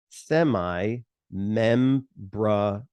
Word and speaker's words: semimembranosus: can't pronounce it I always hear the funniest pronunciations for these it's semi semi membranosus I hear the craziest thing so semi